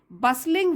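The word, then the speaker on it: bustling: Both बसलिंग with visitors nation wide, both दोनों, बसलिंग यहाँ पे भी टी साइलेंट है, मैंने पहले भी आपको यहाँ पे जैसे ये बताया था हसल बसल, ठीक है।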